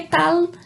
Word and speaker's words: tal: Mas o que tal, ele termina com L, com a letra L. Então, que tal? Tal. A língua termina lá no céu da boca. Diferente do português, que talvez a gente falaria que tal? Olá, que tal? Tá? Não é um U e não é um L com som de U. É o L com som propriamente do L.